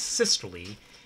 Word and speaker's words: systole: systole all right so you pronounce the e at the end of this or the long e sound so it's systole refers to any time